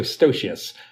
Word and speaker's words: stocious: So stocious. And the other thing that's nice about stocious is it rhymes with extracalifragilisticexpialidocious. Oh, perfect.